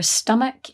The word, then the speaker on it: stomach: of stomach mark well this word ends with ch and that's normally pronounced ch like church or chicken but here it's stomach a hard k sound that's right so watch